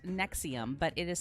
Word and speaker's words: NXIVM: closing on this one so this one is pronounced nexium but it is spelled nxivm and it was